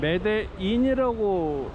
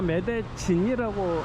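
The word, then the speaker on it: Medellín: 스펠링은 매대인이라고 읽어야 맞을 것 같은데 다 매대진이라고 말하네요.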